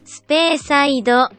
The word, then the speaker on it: Speyside: Speyside.